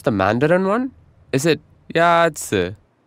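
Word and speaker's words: 鸭子: Is it Yazi? Yazi is pronounced with a first tone.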